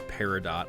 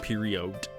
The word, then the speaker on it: peridot: I didn't know that that's how you pronounce peridot. I thought it was like period.